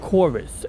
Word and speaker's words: Chorus: good to see you it's called corus and that's spelled with like a Latin letter U so you know cor it looks like corvis but it's a letter U it's not a letter V and uh it's good